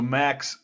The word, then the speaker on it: Macks: It's spelled Macks, but I have a lot of people call me Mac just because it's like, Big Mac, McDonald, like, Yeah.